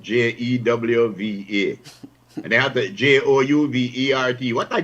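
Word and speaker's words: J'ouvert: And they have the Jouvert. What a Juvert? It's Juve. I think the word came from the French groove.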